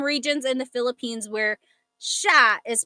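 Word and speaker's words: siya: But the s i y combination that makes a sh sound. So in sha.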